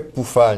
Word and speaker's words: Pufahl: ok alors sur pufal le son u en allemand se prononce ou alors ça fait poufal mais ici si tu